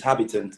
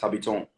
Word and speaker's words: Habiton: um basically so in in english is habitant but in french is pronounced habiton so i spelt it